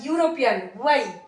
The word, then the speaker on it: European: Okay, again here look at the word यूरोपियन, starts with E, that means vowel, starts with vowel but produces consonant sound, that means y, European, y।